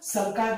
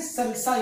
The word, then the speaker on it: sulci: क्या बोला जाता है बच्चों, सल्काई बोला जाता है, या तो फिर इनको बोला जाता है फिशर, इनको बोला सल्काई। वी कैन से सल्साई also, बहुत से लोग उसको सल्साई भी प्रोनाउंसिएशन करते हैं।